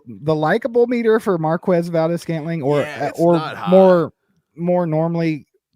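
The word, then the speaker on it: Marquez Valdes-Scantling: Like, yeah, like the likable meter for Marquez Valdez-Scantling or more normally, pronounced to Marquez Valdez-Scantling like a normal person, but it's going down big time.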